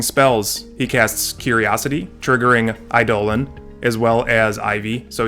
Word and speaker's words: Eidolon: to j-man he plays eidolon of blossoms and yes it's idol and i looked it up on google and it told me that that's how you pronounce it and with that